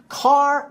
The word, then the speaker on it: car: So, it's not car bar, it's c bar b. The r sound at the end of the word is dropped.